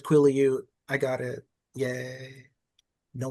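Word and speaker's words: Quileute: I looked up the pronunciation. It said Quillute.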